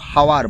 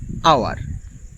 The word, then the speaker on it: hour: Same HOUR, এখানে দেখো এইচ আছে, তবুও কেউ হাওয়ার বলে না, বলে আওয়ার।